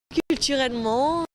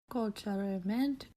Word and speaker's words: culturellement: Take, for example, the vowel E in this word. Culturellement. Notice how this native French speaker pronounces it more like an O. Mon. Now listen to the way a foreign speaker, with no experience in French, pronounces it. Culturellement. This is very different, more of an S sound.